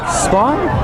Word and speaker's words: Spahn: Coming up here, we have our mayor, Spahn. Did I pronounce that correctly?